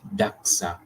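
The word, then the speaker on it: dagga: The Africans term commonly used to refer cannabis is daga, and of course, Afrikaner's pronunciation it is daxa, derived from the Khoikhoi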